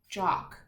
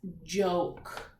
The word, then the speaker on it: joke: If we didn't have that silent E there, it would say J, ok, jock. But the word that we are looking for, since it has that silent E, is joke.